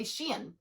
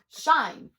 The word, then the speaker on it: Shein: Similar to how nobody knows how to say Shein, shine, sheen. I don't know. I say Shein. Also, I don't really buy a lot of Shein. That's a lie. I've actually never bought Shein.